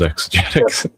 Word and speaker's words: exegetics: Yes, it is exetics. Exetics. So, I'm okay. I'm the only person that pronounced it right the first time then.